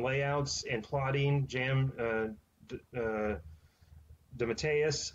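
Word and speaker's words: DeMatteis: and plotting Jam uh the Mateus I believe is how you say it was actually did the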